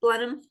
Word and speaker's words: Blenheim: Nope, you're right, Blenheim. Blenheim. A really strong ginger ale from North Carolina taught me how to pronounce that correctly.